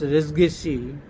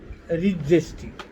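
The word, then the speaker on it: res gestae: They normally be used to pronounce resgesi, but recently, not recently, it is also being pronounced as regesti, regesti, regesti.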